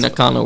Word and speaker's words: Nakano: If we're saying it wrong, You're saying Nakano right.